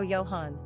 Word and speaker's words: Johann: Choice with European Sensibility we also love the pronunciation yo yo Yohan quick facts on Johann gender boy origin German number of syllables two ranking popularity 942. pronunciation wyohan simple meaning God is